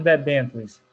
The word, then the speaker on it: debêntures: O que são debêntures? Essa que é a pronúncia, professor? Isso mesmo. Uhum. Então, debêntures são títulos de crédito emitidos por empresas e negociados no mercado de capitais.